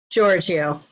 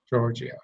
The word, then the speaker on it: Giorgio: I have with me, and I'm going to say the name wrong, so I'm going to let you say your last name. Giorgio. Giorgio.